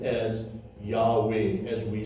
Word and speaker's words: Yahweh: In English, hay inside a word becomes part of the vowel, so we say Yahweh. However, in Hebrew, if it was to be pronunciated, you must hear the hay. So it should actually then be pronunciated Yahweh. That's how we should actually say it.